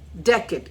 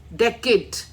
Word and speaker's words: decade: Decade. It means a period of 10 years. So decade, AID, decade, that is the pronunciation.